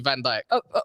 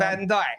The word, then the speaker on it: Van Dijk: Taylor, It's the spelled Van Dutchman. Dijk, but it's not spelled YK. I mean, it's spelled YK, not IJK. Oh, like Dick Van Dyke.